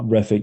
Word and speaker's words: Refik: Refik, we are inviting on stage. Hopefully I pronounced your name correctly. Hello. Refik, yeah, that's correct.